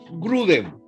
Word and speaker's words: Grudem: Uno es Wayne Grudem. Se escribe W-A-I-Y-N-E, Grudem, como suena.